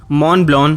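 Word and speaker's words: Montblanc: अब जिन्हें नहीं पता वो ये सोच रहे होंगे कि इसे मॉन्ट ब्लैंक क्यों नहीं कहा मैंने। एक्चुअली इसे ऐसे ही प्रोनाउंस करते हैं।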